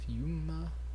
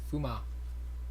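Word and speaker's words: Fūma: have a fume ninja fume fuma ninja Greaves in here it's fuma it's actually how you say it in Japanese what and then we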